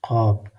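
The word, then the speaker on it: قاف: This Qaf is pronouncing in throat. Look, Qaf.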